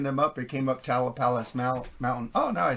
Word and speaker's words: Tamalpais: Tamalpais? Tamalpais Exchange. Do you know of the Tamalpais Mountain I found it California? when I looked it up was looking them up. It came up Tamalpais Mountain.